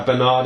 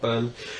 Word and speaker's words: Bernard: That's the singer of this song, and produced by Bernard Edwards from Chic. Nice one. His name is pronounced Bernard, by the way, not Bern.